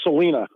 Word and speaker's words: Selina: My sister's name is Selena. It's spelled Selina.